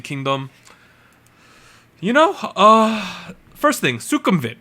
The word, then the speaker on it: Sukhumvit Swimming: That is how you pronounce that, Sukhumvit.